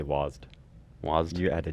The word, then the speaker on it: WASD: out of that is you pronounce it wasd yeah I I say wased wased you add a